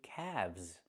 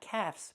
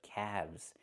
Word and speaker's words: calves: Not calves, but calves. The L is silent and we pronounce the V sound with vibration plus the Z sound like zebra together.